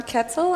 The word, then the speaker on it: Ketzel: I'm Ketzel. I know my name rhymes with pretzel, but...